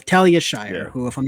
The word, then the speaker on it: Talia Shire: the leading role was tiia Shire she was tyia shler my apologies guys Talia Shyer she played Adrian